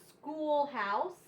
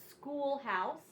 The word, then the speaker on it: schoolhouse: All of these are the CH special sound, but it's pronounced with just the C sound and the H is silent.